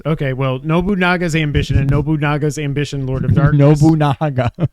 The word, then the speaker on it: Nobunaga: it was it's not NOA what did I spell it wrong it's Nobunaga that's not how you spell it no that's noonga you're missing an a I'm pretty sure it's